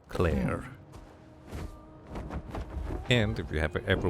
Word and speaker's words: Clair: L E A but you would pronounce it very very similarly to Claire.